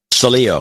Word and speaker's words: Salio: Yeah, and how do you pronounce his last name? Salio.